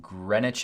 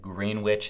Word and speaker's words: Greenwich: This house is located in that Greenwich area, I think is how you pronounce it. I've pronounced it Greenwich in the past, and you guys gave me some heat for that.